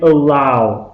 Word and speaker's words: allow: And they allowed me, please pay attention to the correct pronunciation. Don't say "oh," yeah, say "allow." Ow.